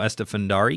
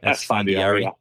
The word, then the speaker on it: Esfandiari: We talked about one, Antonio Estefandari. Is that how you say his name? Esfandiari.